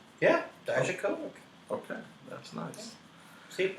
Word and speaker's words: Dijakovic: That's how it's pronounced? Yeah, Dijakovic.